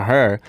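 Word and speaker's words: H.E.R.: Her name is Gabriella Wilson, better known as her stage name, H.E.R, pronounced her.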